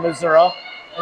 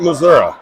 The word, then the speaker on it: Missouri: through no this is I actually had a friend of mine that grew up in Missour and he said that's how you say it you say it Missoura you say it Missoura